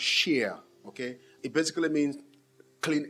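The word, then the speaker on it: שִׁיר: uh that is in the hebrew that is pronounced sheer okay it basically means clean uh musicals abstracts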